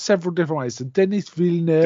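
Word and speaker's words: Denis Villeneuve: Um so directed by D well this is pronounced several different ways. So Dennis Vill Denny Villan there we go that way.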